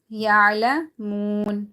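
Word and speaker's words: يَعْلَمُونَ: Aqaluhu wa hum ya'lamun. Again, waw is silent, and before that there's zamma. Ya'lamun.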